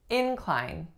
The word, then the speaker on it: incline: next one we have inclined incline so because I'm stressing the first syllable you know this is the noun form the two vowel sounds